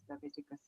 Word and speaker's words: Leviticus: of Le levitic C Leviticus correct am I pronouncing it right yes Leviticus uh levius Leviticus Leviticus okay um chapter number